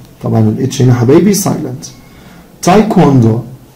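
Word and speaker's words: taekwondo: تايكوندو، تايكوندو، نحن حبايبي الدبليو بتتنطق.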